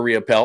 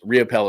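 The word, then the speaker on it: Riopel: Riapel or real simple. All you have to do is just Google it. If Google it, just look it up. Whatever is your favorite uh search engine of choice, Riapel is spelled R I O P L E.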